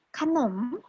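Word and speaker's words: ขนม: Jadi dia di apit pertama dia bersuara A, di apit kedua dia bersuara O. Gitu. Jadi bacanya kanom.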